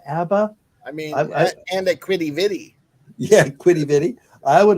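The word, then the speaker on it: Quidi Vidi: Oh, you pronounced it right. Good job. Quiddy Viddy.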